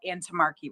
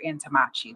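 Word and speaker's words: Antommarchi: have what are called antimmarchy rights or antamachi. That's pronounced two separate ways.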